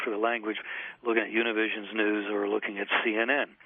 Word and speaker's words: Univision: from univision what is univision and what does that report reveal well univision or univision as it's pronounced in spanish is a mainly next